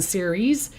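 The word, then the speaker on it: Ceres: call on her on series and they they spell it c e r e s but you can say it s e e r e e z here e okay so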